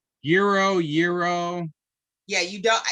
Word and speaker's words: gyro: to pronounce this it's euro euro gyro yeah you don't you're not supposed to pronounce the g but i'm from chicago we definitely say gyro so um i i